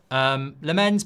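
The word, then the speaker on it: Lammens: Lamens put the stress on the first part.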